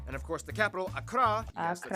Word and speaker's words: Accra: Ho, and Tamale, and of course the capital, Accra, yes, that's how you pronounce it, Accra, located in the southeast along the coast.